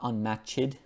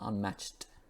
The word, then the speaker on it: unmatched: And unmatched, now it's not unmatched, okay, as a lot of Brazilian speakers would pronounce it that way, Spanish, I think Italian as well, but there's a very soft kind of T sound, so unmatched.